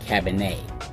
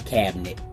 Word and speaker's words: Cabernet: But not being content with being a one-trick pony, they've introduced the Cameroon Cabernet, not Cameroon Cabinet.